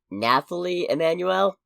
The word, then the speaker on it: Nathalie Emmanuel: pronounce this actress's name Nathalie Emmanuel oh okay there's an H where I don't expect an h and I'm an idiot